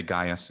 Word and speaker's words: Gaius: Gaius is actually 3 syllables. We say Gaius, of course, in English, 2 syllables, bum bum, Gaius. But in Latin, it's Gaius, bum bum bum, Gaius.